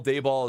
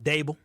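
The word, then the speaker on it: Daboll: From what I can tell, Dayball is sort of an unliked character. So why do we call him Dayball? Because the guy called in called him Dayball. How do you say his name? Dable.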